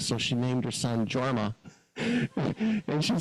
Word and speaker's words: Jorma: many years ago I said Oh you mean yorma she said no JMA it's spelled j o r m a i said that's pronounced yma no it's JMA so uh a few years go by we